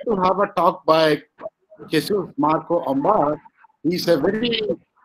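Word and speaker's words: Jesús: Just for information to my Indian colleague, why I'm calling him Jesus, not Jesus, because in Spain, Jesus sounds Jesus. So he is pronounced as a Jesus, not Jesus.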